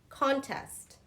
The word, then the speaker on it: contest: So, contest, contest. I really dislike beauty contests, okay? It's on the first, contest, contest, okay?